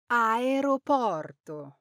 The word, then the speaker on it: aeroporto: You might hear Aeroporto, or you might hear Aeroporto, but the correct way to say it is Aeroporto. Say this with a smooth ro in the middle.